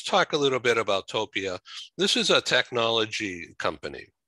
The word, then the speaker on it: Topia: So first of all, am I pronouncing Topia correctly? Topia, yeah.